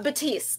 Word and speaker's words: Baptiste: have with us Baptiste did I say it correctly uh Batiste the p is silent oh very nice um